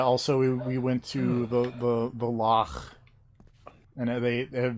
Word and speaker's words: loch: Also, we went to the loch, and because it's very Scottish, everyone has to say it like that with a little bit of phlegm at the end.